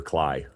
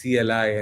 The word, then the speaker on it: CLI: You pronounce the capital words. It's not Kali or muck up. It's CLI and MCP.